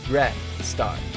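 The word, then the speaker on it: Greystar: it's from anything but I've always said gret star so that's how I pronounce it if you don't mean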